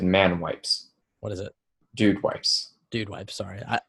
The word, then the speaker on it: Dude Wipes: whether you tribute this or not so the man wipes but now that's going to wear say it right then what did I say he said man wipes what is it dude wipes dude why I'm sorry I by the way